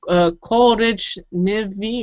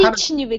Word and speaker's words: коричневый: Korichnivy, or did I pronounce it? No. How do you pronounce that? Коричневый.